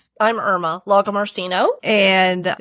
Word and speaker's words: Lagomarsino: Can you introduce yourself so that I don't mispronounce? I'm Irma Logamarshino, and it's humbling to be here.